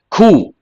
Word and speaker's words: coup: Coup. People mispronounce this also. Here, the letter P is silent. It is a noun, coup.